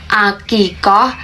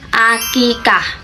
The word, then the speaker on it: akikah: Kata akikah berasal dari bahasa Arab, tetapi dalam bahasa Indonesia telah mengalami penyesuaian fonologis. Jadi yang benar itu bukan akikoh tetapi akikah.